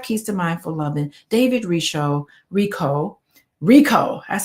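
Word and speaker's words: David Richo: David Rico, that's how you pronounce it.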